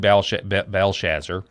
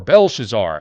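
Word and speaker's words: Belshazzar: So if you go to Daniel chapter 5, which is up on your screen, uh it talks about King Belshazzer is how I pronounce it or Belshazar.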